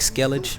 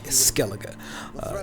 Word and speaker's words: Skellige: one is Skellig a-- now it looks like skellige please don't pronounce schedule Skellig a-- it is supposed to